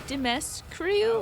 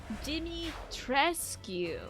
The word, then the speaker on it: Dimitrescu: So it is like you're kind of like Dimitri or Dimitri-esque. The U is silent according to Romania.